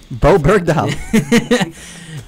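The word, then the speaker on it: Bowe Bergdahl: Bo Bogdal, how you say his name? Bo Bergdahl.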